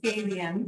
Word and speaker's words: gabion: Gabion is the spelling, and it's pronounced Gabion.